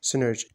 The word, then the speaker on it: CNERGY: Company का symbol है CNERGY which is pronounced as सिनर्जी।